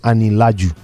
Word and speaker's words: Anilaju: My handle is at Ani-Laju. Just the way it's pronounced.